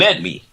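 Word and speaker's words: Aledmys: l e DM y s and it is pronounced announced Ed me Diaz let me tell you about Mr Diaz's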